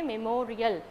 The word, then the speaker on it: memorial: have to give stress mark essential memorial okay memorial so may more re-el memorial so real before